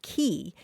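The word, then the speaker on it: quay: the word spelled quu a y is usually pronounced key it came into English in the 1300s uh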